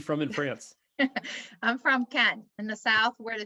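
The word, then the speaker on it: Cannes: so though you're from how do you say it don't say the s don't say the yes i said it wrong i've been saying it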